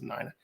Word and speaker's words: Nina: That's Nina. I have a friend. Her name's pronounced Nina, spelled the same.